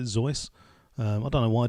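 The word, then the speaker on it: Seuss: you're quite right zoe it should be soos um i'd i let that one slide because i would pronounce it zoice um i don't know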